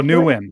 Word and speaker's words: Nguyen: that was awesome um spelled win and it's spelled n g u y e n she got it close that's Chris Chris Newan oh new win a new winner Yeah Yeah